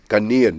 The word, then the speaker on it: Ghanaian: So is your wife Ghanaian?